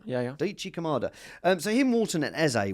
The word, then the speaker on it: Daichi Kamada: No, it was Daichi Kamada. Okay. Is that the right pronunciation? Yeah. Daichi Kamada.